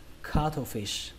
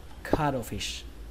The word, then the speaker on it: cuttlefish: Và cái từ này chúng ta sẽ đọc là cuttlefish, cuttlefish, cuttlefish. Cách đọc thứ hai của từ này chúng ta sẽ đọc cái âm thờ này thành âm đờ, có thể đọc là cuttlefish, cuttlefish.